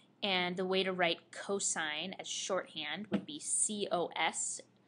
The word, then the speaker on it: cosine: the way to write cosine as shorthand would be cosos not pronounced C but cosine cosine of theta is